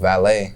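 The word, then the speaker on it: Valee: I mean, I've been in the studio with Valet.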